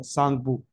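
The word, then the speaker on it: Tsangpo: ये देख पा रहे हो नाम, टी साइलेंट हो जाएगा, सांगपू।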